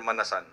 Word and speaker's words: Manasan: How do you pronounce that, ma'am? Manasan or Manasan?